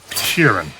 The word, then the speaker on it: Sheeran: parable of the organ Grinders monkey Frank Sheeran I saying that right yeah you said it